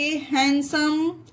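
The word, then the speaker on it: handsome: तो आप लोग इस चीज को ध्यान रखिएगा कि जिस भी वर्ड में HWGND के बाद हो तो वहां पर डी साइलेंट रहता है, डी का उसका कोई उच्चारण नहीं होता।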